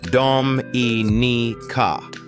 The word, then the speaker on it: Dominica: And finally, at number one, the most underrated island in the entire Caribbean, a place pronounced Dominica.